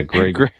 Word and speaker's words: Greg: It's not Gary. It's Greg. Yeah, Greg.